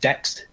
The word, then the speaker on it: Dexed: DX7 synth that you can use is called Dext. So that's spelled DEXED, and yeah, it's just to use that naming scheme that Yamaha was using for the FM synth.